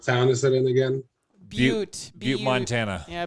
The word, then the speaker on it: Butte: Butte, Montana. Yeah, Butte. Is it the one spelled like But Yes.